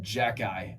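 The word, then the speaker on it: Xhekaj: Dude, if you looked at that and someone told you, yeah, you pronounce that Jack-eye, ain't no way I'll be able to.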